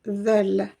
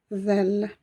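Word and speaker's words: ذال: Elle se prononce zel, zel.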